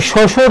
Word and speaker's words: শ্বশুর: ক পক্ষ কিন্তু এই শ্বশুর দেখো শব্দের শুরুতে মানে আদিতে যদি বফলা থাকে তার কোন উচ্চারণ হবে না তাহলে সঠিক উত্তর এখানে